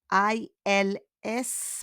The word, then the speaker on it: ils: I-L-S, but we don't pronounce the S.